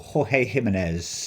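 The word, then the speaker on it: Jorge Jiménez: This is cover A, and that is coming from George Jimenez, or Jorge Jimenez, as people like to pronounce it.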